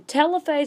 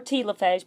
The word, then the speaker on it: telophase: pull apart and then in telophase or telophase pronounced either way the nuclear membrane comes